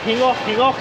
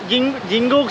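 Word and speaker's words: Gingoog: Pronounce it properly. Hingok? Oh, but it's written there as Jingok city. What's that? So I don't know. This is called Jingok city eastbound terminal. But these guys are saying something else. I don't know. Maybe that's how they pronounce.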